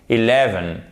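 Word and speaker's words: eleven: Mais parfois, ce E atténué peut être prononcé comme un I court et c'est le cas notamment, parce que là c'est une prononciation US, en anglais britannique, en fait, il va y avoir une petite différence. Le 11 est prononcé comme un I court. Et le I court, il ressemble plus, non pas au I, mais au E. E. OK? 11. 11. 11. Ça, c'est anglais britannique.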